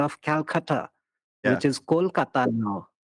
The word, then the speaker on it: Kolkata: In our language, we call it very melodically like Kolkata. Kolkata. So Kolkata, you don't pronounce it. You see, With don't pronounce the with T and the a D. hard T, a Kolkata or Kolkatha. Kolkata. Kolkata. Like the Dutch and the French say T and D, the and the, not T, the and the.